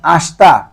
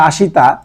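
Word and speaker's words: 明日: কিও কিও মানে হচ্ছে আস তারপর যায় দেখেন আসতা আসতা আসতা মানে হচ্ছে আগামীকাল উচ্চারণটা যদি হয় আসিতা কিন্তু বলার সময় আপনারা আসতা বলবেন আসতা আসতা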